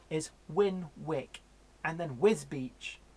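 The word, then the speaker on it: Wisbech: win WIC and then wisbeach wisbeach is wisps patch well so it's spell twist bench but it's wisbeach so yeah Ohio chairman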